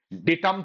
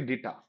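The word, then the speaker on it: data: ডেটাম থেকে ডেটা, এটা ডাটা নয়, অনেকে উচ্চারণ করে ডাটা, সজনে ডাটা হয় ভাই, ইংলিশে ডেটা হয়, ডেটা, ডেটা, ডেটাম, ডেটা।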